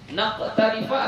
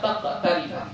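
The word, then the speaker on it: نقترف: Naqtarifa atau taqtarifa? Nah, ya, yang benar nah, ya, wa an naqtarifa. Kalau titiknya 2 kurangi 1 jadi 1. Naqtarifa, ya, bukan taqtarifa.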